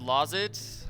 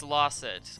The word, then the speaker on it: Lozet: Oh, his name's pronounced Lozet? I thought it was Losset.